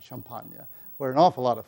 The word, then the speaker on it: Champagne: a part of Champagne, which we Americans pronounce Champagne. The French are just a little classier about Champagne, where an awful lot of fighting had taken place, principally in 1915.